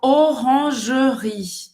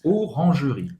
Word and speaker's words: Orangerie: Então, Orangerie. Orangerie. Olha, eu não vou falar Oran. Orange, olha aqui, faz a boca do O e fala E fala E. Orangerie. Esse E no final não se pronuncia.